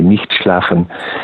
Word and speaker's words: Nicht schlafen: I can pronounce this in the German way, Nicht Schlafen, which means do not sleep.